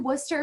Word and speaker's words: Worcester: We are in Worcester, Massachusetts. I know it kind of looks like Worcester or Worcestershire. I've heard all the pronunciations, but we are in Worcester, Massachusetts, hence the name WPI, Worcester Polytechnic Institute.